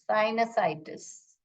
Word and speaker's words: sinusitis: कैसे प्रोनाउंस करते हैं, साइनाइटिस. इसे साइनाइटिस, साइनसाइटिस ऐसे प्रोनाउंस करते हैं, साइनसाइटिस.